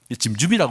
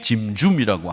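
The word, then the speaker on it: צמצום: 이게 발음 기호로는 TS가 되기 때문에 사실은 짐보다는 침과 짐의 중간쯤 되는 그런 발음을 하시면 되는데 침춤이라고 읽기에는 좀 그렇고 우리나라 발음을 못하는 그런 언어들이 많이 있어요. 짐줌이라고 그냥 읽겠습니다.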